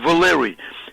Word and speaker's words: Valery: My name is spelled with Y at the end instead of I-E for female, spelled with Y, and it's pronounced Valery.